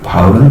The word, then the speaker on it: 바울: 바울이라는 사람, 헬라어로 파울로스 이렇게 있죠. 영어로는 폴 이렇게 있습니다. 그러니까 좀 발음이 많이 바뀌었죠. 근데 한국어는 바울 이렇게 있습니다. 파울까지는 이제 바울로 바뀐 거죠. 파울로스 뒷자는 빼고.